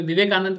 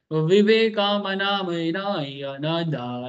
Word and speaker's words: विवेकानंद: viral हुआ था बहुत उसमें विवेकानंद का एक नाम वो प्रोनाउंस किया कर रहा था ठीक है विवेकानंदा ठीक है य तुम किसी भी अमेरिकन को पूछना कभी तो ट्रंप बोल नहीं पाया ठीक है ऐसे बोला विवेका मना ऐसा कर बोल ही नहीं